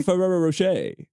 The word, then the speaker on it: Ferrero Rocher: It's a Ferrero Rocher. You have to you have to smile at the camera and say say it like Rocher.